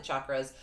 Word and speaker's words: chakras: a really funny thing, because I said chakras, you say chakras. It's like Charles and Charles, or what is the other, that cheese, y'all, the cheese word. That's CH, but it's not pronounced like cheddar.